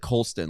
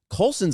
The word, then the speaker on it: Colson: You said Colston, like love. Oh, see, I'm still embarrassed. World. It's Colson, okay. No, it makes Montgomery. sense because they're in a way. I don't mean this rudely. Colson's a made up name.